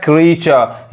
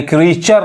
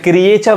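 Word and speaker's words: creature: रहा है क्रीचर यानी क्रीचर नहीं अब एक चीज इसको देखिए इसको भी बहुत लोग गलत पढ़ते हैं क्रिएचर लोग बोलते हैं जो कि गलत उच्चारण है सही उच्चारण क्या होगा क्रिचर क्रिचर अब नेक्स्ट एग्जांपल देखिए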